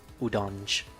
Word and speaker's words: Udonge: Let's go udonge. Udong. Udonge. I pronounce it as udong. I know some people pronounce it as udonge.